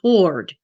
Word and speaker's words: Hurde: So all the children's records in Boston Church have been spelt their surname Hurde, which is pronounced Hord.